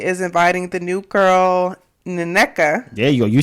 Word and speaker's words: Nneka: Ashley is inviting the new girl, Nneka.